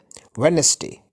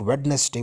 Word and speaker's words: Wednesday: D is silent here Wednesday so we don't speak Wednesday we speak Wednesday and then again sandwich